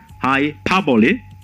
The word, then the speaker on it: hyperbole: The intonation is on the syllable pa, hyperbole.